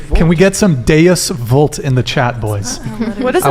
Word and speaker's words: vult: good attack how de vult it's with a V cuz I've heard it's